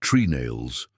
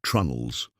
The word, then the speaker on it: trunnels: Planks were held in place with a combination of iron nails and wooden pegs called tree nails, pronounced trunnels.